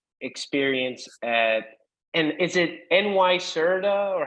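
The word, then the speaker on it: NYSERDA: bit about your experience at and is it NY Serta or how how do you pronounce that I know it's Nera n nerta nerta yes okay and so can you can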